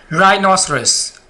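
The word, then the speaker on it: rhinoceros: आपने बस इस रूल को अपने ज़हन में रखना है, आपको इजीली समझ आ जाएगा कि आपने कब एच को साइलेंट रखना है। जी, राइनोसरस, राइनोसरस गैंडा जो होता है, राइनोसरस, रेनासरस, ये एच से पहले क्या आ गया?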